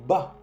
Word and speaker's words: bats: Je bats, bats. El T y el S no se pronuncian.